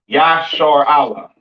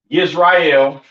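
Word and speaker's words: ישראל: So this is how you pronounce uh uh excuse me this how you pronounce um excuse me this is how you pronounce Israel in the ancient Hebrew yah yashar Allah. All right. Not Israel, not uh uh Yasher and and a lot of other weird names that how you pronounce uh Yashar Allah or Israel in English.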